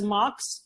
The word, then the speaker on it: MHOX: So, and you told me you're pronouncing it as MHOX.